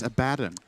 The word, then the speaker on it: Abaddon: You said Abaddon again. It's Abaddon. You had the chance to correct it.